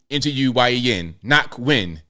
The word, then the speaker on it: Ngoc: Ngoc. So they have it spelled NAHK, knock, and Nguyen. You can say Nguyen, but I normally say win. Ngoc Nguyen.